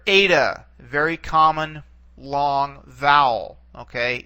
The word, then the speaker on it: Eta: is a vowel and it has an a sound to it a all right okay this